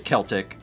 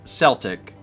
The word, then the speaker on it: Celtic: is different that's why so it is Celtic but the sports team pronounces it Celtic okay I feel better